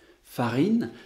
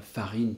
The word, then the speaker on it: farine: Farine, si je laisse l'élève écrire farine tout seul, eh bien, même s'il réussit bien, il risque d'écrire F-A-R-I-N, mais en français, F-A-R-I-N, cette suite de lettres ne se prononce pas farine, elle se prononce farin.